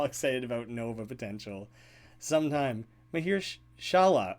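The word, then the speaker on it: Mahershala: Oh, I'm adding in an extra H. You're totally right. Mahir Shala. Mahir Shahala was what I was saying. You're absolutely right. I'm adding in an extra syllable there.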